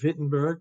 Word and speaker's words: Wittenberg: at the University of Wittenberg remember in German if it's a w you pronounce it like a V okay um he was